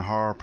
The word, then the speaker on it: HAARP: Let me just touch on HARP very quickly. The acronym, or the word HARP, it's spelled HAARP, stands for High Frequency Active Auroral Research Program.